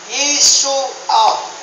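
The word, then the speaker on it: ישוע: Pero ang pagkabanggit talaga niya sa Hebrew word is Yeshua.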